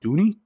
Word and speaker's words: Dooney: it is the proper way to say it Dooney Dooney and Bourke keyring keychain brown leather and